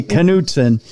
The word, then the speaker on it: Knutson: That's how we pronounce it in Minnesota. It might be Knutson for all the rest of you, but there's a K in it. So we say Knutson.